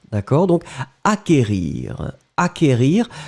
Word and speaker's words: acquérir: Acquérir, le CQ, en fait, vous ne prononcez pas vraiment vous n'allez pas allonger le que, vous l'avez juste prononcé acquérir.